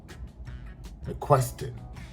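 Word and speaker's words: McQuiston: And I want Miss Casey McQuinston, how do you pronounce that? McQuinston.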